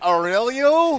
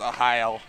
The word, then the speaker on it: Arraial: So apparently the R's are like an H sound, so it's Ohio.